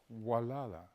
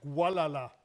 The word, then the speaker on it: Gualala: There's a little town on the coast called Walala. I don't call it Walala. I call it Gualala. Because it's spelt with a G.